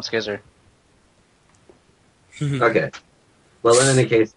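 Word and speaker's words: Scizor: or you guys pronounced or who pronounced it caor for a while not me NOP I don't know anybody who ever did that Don calls him skizzer yeah I call him skizzer okay well in any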